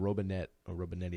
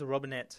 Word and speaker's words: Robinette: and that's Jalen Robinetti. I'm not sure how you say his name. I think it's Robinette. All right. Well, I said it right the first time. I would say like that, Robinette.